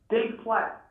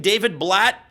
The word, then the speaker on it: David Blatt: Dave Platt. You mean David Blatt? Yeah, David Blatt. I'm sorry, I got the name wrong.